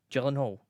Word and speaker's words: Gyllenhaal: It's pronounced Gyllenhaal.